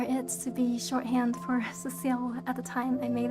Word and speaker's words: Cecile: slide i know that some people call me but my name is pronounced cecile um i'm kind of